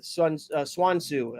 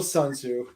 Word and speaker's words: Sun Tzu: It's part of the Swan Tzu. I think it's Swan Tzu. It's called. That's it. Yeah, Dennis, pronounce Wow. it right, you racist. Yeah. Lord. Still Sun Tzu.